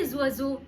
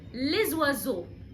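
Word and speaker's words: les oiseaux: معرفه ا للاسماء الجمع لكن انا نطقتها لحد الاس مخصوص لانها بتبدا بحرف الاو كلمه وازو بتبدا بحرف الاو وده حرف فوايل فقلت لزوازو لزوازو طيب اخر مثال عندنا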